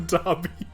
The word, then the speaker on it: Derby: I'm gonna do it just because I love those how to pronounce videos. Put another horse on the Derby.